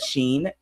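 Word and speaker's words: Shein: those that because some everyone pronounces Shen differently she said Sheen she me sheen sheen s h e i n that big huge former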